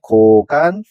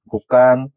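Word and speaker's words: 곳간: 화면에 보시다시피 제가 먼저 써 놨는데이 여섯 개의 단어를 먼저 한자 보는 그대로 읽으면 뭐가 되냐면 얘는 차관이 되고 그다음에 고간 그다음에 퇴간 수자 회수 세방이라고 읽을 수가 있습니다. 근데이 여섯 개의 단어들은 어 한자의 사이오시프트 그래서 착간, 곡간, 색간, 숫자, 횟수, 새빵이라고 읽으셔야지 표준화가 되는 것입니다.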